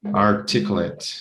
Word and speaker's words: articulate: Articulate. Articulate is exactly, people tend to say 8, but it's articulate. Articulate.